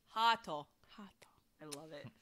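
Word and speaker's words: ハート: In Japanese phonetic is Hato.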